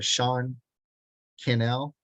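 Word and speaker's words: Sean Cannell: um his name is Sean canel it rhymes with Channel okay Sean Channel he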